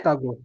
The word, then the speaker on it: escargot: Now, I want to bring to your attention, when letter R appears between two letters, that sound must come out. So we say escargot. Escar, car, R. Escar, you know car, escargot. Escargot. T is silent.